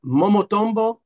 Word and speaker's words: Momotombo: Now, Leo Rosales and his new band, I'll let him pronounce it. It's Momotombo SF.